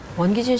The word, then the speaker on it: 원기준: 많이 했어요 이게 왜냐면 사실은 제 이름이 원기준입니다라는게이 발음이 되게 어려워요 사실 안녕하세요 원기준입니다 이게 계속 다 받침이 막 이렇게 니은 니은 있어서 아 왜 우리 아버지가